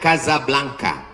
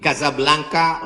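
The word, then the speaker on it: Casablanca: nama negaranya Maroko ibukotanya tulisannya casablangca cara bacanya Kadzab langka Kaza artinya rumah Blanca artinya putih Kasablanka rumah warna putih bahasa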